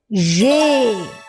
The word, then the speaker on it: j'ai: And the pronunciation is? Yes, it is j'ai.